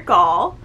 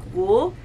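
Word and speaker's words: Gaul: through this entire review because technically her name is dr. gall but for this whole book in my mind I kept calling her dr. bull and they're just stuck so I will be calling her dr.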